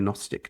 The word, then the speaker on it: Gnostic: Christian Gnostic tradition although you're not supposed to pronounce the G the Gnostic tradition which all got